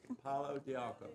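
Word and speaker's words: pau d'arco: Who knows about Padiarco? Pardon? Hang on a sec. We'll get the right pronunciation. It's palo, like stick, de arco, like an arc. Palo de arco.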